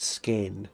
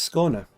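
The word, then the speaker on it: Skåne: Sagaron says I think it's pronounced skain. No it's uh it's pronounced sconer in scan in Sweden in the Danish. In Danish it's probably pronounced but in Swedish it's probably pronounced sconer.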